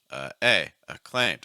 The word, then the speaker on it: acclaimed: Acclaimed, 2 syllables. A, stress on A, right? Low pitch, A, high pitch. Acclaimed, acclaimed, acclaimed, acclaimed.